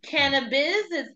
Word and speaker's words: KannaBiz: LLC what is that sure it's can business it's spelled with a K people don't know that